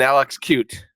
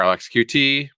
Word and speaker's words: LXQt: And even Alex cute or Alexqt, whichever you want to pronounce it, Alex LXQ is how I'm going to say it is on board.